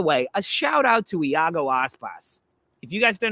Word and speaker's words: Iago: And by the way, a shout out to Iago Aspas. If you guys don't know who Iago Aspas is, he's a Spanish player.